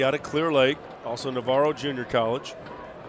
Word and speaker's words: Navarro: of clear lake also navarro junior college i believe it's naverro is how they say it i believe you're right